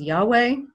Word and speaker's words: Yahweh: pronunciation that swedenborg uses sometimes it's pronounced as yahweh which is a 19th century german scholarly pronunciation so if you hear